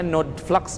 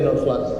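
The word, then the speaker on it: Nodeflux: Ini kita bacanya Node Flux, betul ya? Ya, Node Flux.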